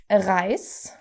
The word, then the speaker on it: Reis: We also eat a lot of Reis. In English, rice. German, Reis, very similar, only the pronunciation varies and is more German.